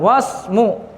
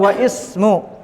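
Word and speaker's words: واسم: ya tidak ada alifnya ya kalau hamzah wasal maka dia boleh dibaca langsung wasmu atau wa ism tapi kaidah yang benar kalau ada sebelumnya huruf wau atau yang lain maka dia diloncati boleh tidak dibahah wasmul waladi muhammadun paham sini karena ini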